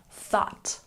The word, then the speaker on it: thought: date looking at pronunciation make sure that you really stick your tongue between your teeth when you say thought thought once again thought